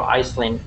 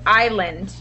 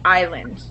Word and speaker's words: Island: No, it's Island. So the S is silent. Okay. Yeah. So it looks like Iceland, but it's pronounced Island.